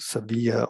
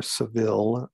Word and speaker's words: Sevilla: So he's born in Spain, down here in what is called Sevilla or Seville, as Caucasians would pronounce it.